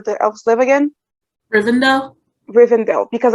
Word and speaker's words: Rivendell: elves live again urbandale rivendell because i always want to say riverdale and that's not it um like not at all so reason though i